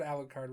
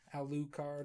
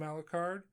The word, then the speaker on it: Alucard: sarah and i think you pronounced a louis card or something like you said alucard really weird too aloo card or whatever um i just